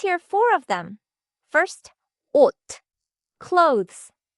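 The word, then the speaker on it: 옷: At the end of a syllable, several different consonants collapse into one single "d" sound.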